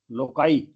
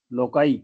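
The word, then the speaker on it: loci: शब्द लोकस एल ओ सी यू S loss लोकाई एल ओ सी आई लोकस लोकाई इसका plural है फिर हमारा शब्द है क्राइसिस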